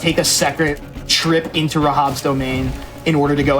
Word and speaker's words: Rahab: So that's Rahab. I almost beefed his pronunciation.